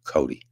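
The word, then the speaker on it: Coday: Oil and Gas Workers of America and his name's Matt Cody. Uh it's spelled C O D A Y and it's pronounced Cody.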